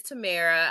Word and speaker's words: Tamara: So my name is Tamara. I pronounce my handle.